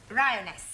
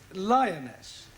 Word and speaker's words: lioness: lion roness lioness roness no l l r r you're not saying it right very sorry I know try saying roness lioness well in future every time you see an L pretend it's an AR right Anna yeah feminine